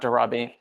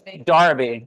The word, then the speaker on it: Darabi: Wait, it's not Darabi. It's Darabi. I want to make sure I say it right.